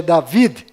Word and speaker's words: David: m mudo no final Rei Davi que na verdade é David com d mudo no final e Jacó que